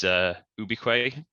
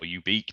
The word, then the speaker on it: ubique: Our motto is ubique or ubique, depending on how you pronounce it, and that means everywhere.